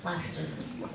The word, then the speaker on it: flappage: That would be more like France, French.